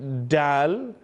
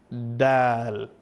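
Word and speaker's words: د: We don't use the tip of the tongue, we use the flat part of the tongue. So don't say dal, you say dal. And this is how you pronounce the letter properly.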